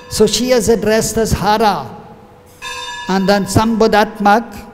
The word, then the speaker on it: Hare: So she is addressed as Hara. And then Sambodhatmak, when one is pronouncing Hara in love or exclaiming, one will not say Hara, then one will say Hare.